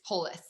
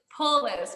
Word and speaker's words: Poulos: We are speaking with, who before I say your last name wrong, will you tell me how to say your last name? Yes, it's Poulos. Poulos.